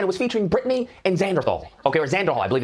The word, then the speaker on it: Xanderhal: And it was featuring Brittany and Xanderhal, okay, or Xanderhal, I believe is his name. Brittany is the host of Politically Provoked. And Xanderhal, I believe... Why does everybody say Xanderthal?